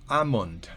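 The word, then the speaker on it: almond: sólo con la palabra a mont recuerden la l no se pronuncia de monte no voy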